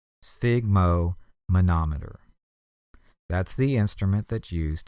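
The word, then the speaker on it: sphygmomanometer: to measure blood pressure and that is a spigo monometer SPH y g m o m a n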